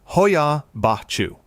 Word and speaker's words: Hoia Baciu: Pronounced Hoia Baciu.